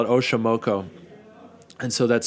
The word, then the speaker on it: Oxomoco: You're the only people to know this, but we're going to call it Oxomoco. And so that's spelled Oxomoco, and that is based on the goddess of night, the Aztec goddess of night.